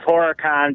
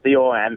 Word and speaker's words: Horicon: It's Horicon, just like it's spelled, Horicon.